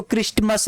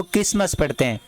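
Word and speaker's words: Christmas: पर 50% होगा क्रिसमस इसको क्रिस्टमस नहीं पड़ते हैं इसको क्रिसमस डे क्रिसमस इसमें आपको पता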